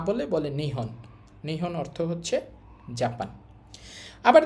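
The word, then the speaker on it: 日本: তো টোটালটা একচুয়ালি হওয়ার কথা ছিল নিচিহন। বাট এটাকে বলার সুবিধার্থে শর্ট করে নিচিহন না বলে নিহন।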